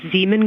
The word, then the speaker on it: Zeeman: Okay, and can you say the first letter? I may be pronouncing that wrong. What's the first letter of that word? Zulu. It's Zeeman.